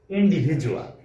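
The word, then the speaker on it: individual: যেমন প্রথম শব্দটি হল ইন্ডিভিজুয়াল। হ্যা এখানে এ ডি বর্ণটির উচ্চারণ বাংলা বর্গীয় জ এর মত।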